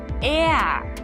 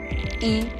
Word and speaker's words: er: It's er. So it's spelled er, but actually it rather sounds like ea, er.